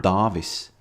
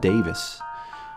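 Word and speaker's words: Dāvis: It's called Davis, not Davis. The A has a little line above it, meaning that it's pronounced ah.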